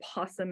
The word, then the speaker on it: opossum: So I have an opossum here, right? An opossum is a really good, or possum as some people will pronounce it, you know, there's different ways.